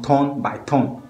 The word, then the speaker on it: Turn by Turn: People, they pronounce them ton by ton because of the tonation we use for the track inside. Bro, 10 by 10.